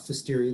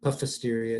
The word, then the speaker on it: Pfiesteria: And so we'll talk about Pfiesteria. The P is silent, kind of like pneumonia, Pfiesteria, it's just Pfiesteria, okay?